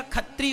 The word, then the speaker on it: क्षत्रिय: भी जैसे क्षत्रिय है, तो वहां पंजाब में क्षत्रिय को छा नहीं बोलते, छा, क्योंकि वो उच्चारण नहीं निकलता, तो खा बोलते हैं, छा को खा बोलते हैं। तो क्षत्रिय का खत्री हो गया।